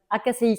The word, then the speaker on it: AKCI: Alors, en fait, on prononce ça AKCI, ça veut dire l'académie du coach immobilier, mais on prononce à qui ? comme acquisition de de connaissance ou de